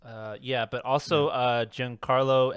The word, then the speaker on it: Giancarlo: yeah but also uh giancarlo esposito or how do you say his name uh juwan carlo esposito yeah he's in this yeah